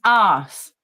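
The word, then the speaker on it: arse: It's ass. Asshole. Yes. It's spelled A-R-S-E. Ass. Ass.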